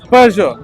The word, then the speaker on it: Peugeot: So the correct pronunciation for the Peugeot, not Peugeot.